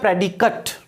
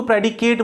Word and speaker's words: predicate: फिर देखिए एक चीज और ध्यान रखना, ये वर्ड जो है ये PREDICATE, ध्यान रखना इसका प्रोनाउंसिएशन होता है प्रेडिकेट। कई लोग उसको प्रेडिकेट बोल देते हैं, गलत।